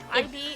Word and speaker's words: Ib: Ib? Yeah. Ib. It's technically pronounced like Eve, but if you say Eve, then like nobody knows what the fuck you're talking about.